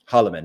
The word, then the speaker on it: Holleman: ways, you are not even, how do you pronounce, is it Holloman, Austin Holloman or Holman? Holloman.